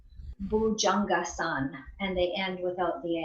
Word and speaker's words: bhujangasana: bhujangasana so it's shortened so when it's bhujangasana then that would be probably hindi as opposed to Sanskrit Sanskrit would put that a on the end it will pronounce the